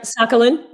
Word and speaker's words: Sakhalin: That's right, Sakhalin. Mm-hmm. Sakhalin. Okay. Mm-hmm. I've heard it pronounced different ways.